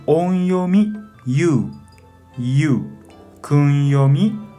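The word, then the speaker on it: 友: Para pronunciar, onyomi yu, yu. Kunyomi tomo, tomo.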